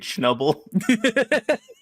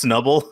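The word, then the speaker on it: Snubbull: to me that that he keep calling it schnubble because it's definitely just pronounced snubble i don't know i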